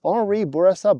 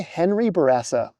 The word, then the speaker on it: Henri Bourassa: In English, I'll say Henri Bourassa Boulevard, which is different from the French. Boulevard Henri Bourassa. but it's also not quite a full anglicization. I won't say Henry Bourassa.